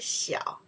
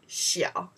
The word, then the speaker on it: 小: We pronounce the 小, means small.